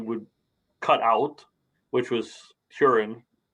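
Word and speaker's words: Hurin: cut out which was curing right which they in the in the book on the audiobook very much pronounced like urine yeah yeah and so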